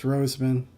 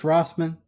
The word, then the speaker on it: Rossman: Uh, the YouTuber named Louis Roseman, he's been or Ross, I think it's pronounced Louis. Yeah, Louis Rossman.